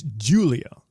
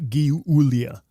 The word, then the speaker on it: Giulia: just so I have this clear is it pronounced it's Julia yes okay not not g g not gulia okay Julia and yeah Julia with a G